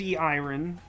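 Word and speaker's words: Eirin: new character this is e iron I call her that because it's spelled e i r i n and that's not how you write Aaron um and uh so she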